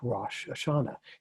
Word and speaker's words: Rosh Hashanah: called the head of the year which is pronounced rosh hashanah you guys have probably heard about that celebration